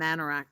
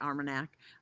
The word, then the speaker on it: Armagnac: Cognac and Manarac, I am not pronouncing it right, Armagnac.